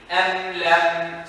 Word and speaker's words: أم لم: No, you're saying it correctly, but try to clear the meaning. Am lam, see? Am lam. I have to see you do this with the meaning. Am lam. Beautiful, mashallah. But the second meme, make sure you show it. Look at my lips. They're open right now, right? Am lam tundirhum la. You see what it did with the meme?